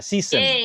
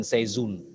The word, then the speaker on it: seizoen: Ya, season. Ya, bisa. Tapi bacanya regen seizoen. Regen seizoen. Oh, bukan season. Regen seizoen.